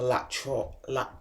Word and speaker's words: lat: So basically, as you're doing the lat pull downs, it's not lateral pull downs, which I keep saying, it's lateral pull downs. No, it's lat pull downs for I can't pronounce it, but it's a Latin for your lats.